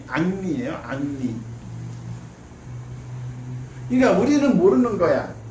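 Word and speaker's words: Henri: 헨리 프랑스식 발음이 앙리예요.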